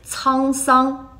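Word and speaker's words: 沧桑: Song, which means vicissitudes, which does kind of sound like Samsung. But hey, the right pronunciation is Cang Song.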